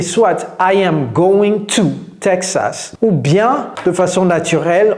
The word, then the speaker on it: Texas: avez entendu Texas Tex Texas vous voyez c'est le T le D dont j'ai parlé tout à l'heure Texas donc apprenez à